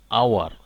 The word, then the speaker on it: hour: One thing you have to stress here that the first letter of hour is H, but it remains silent. That's why the word, the noun is pronounced as hour, not hour.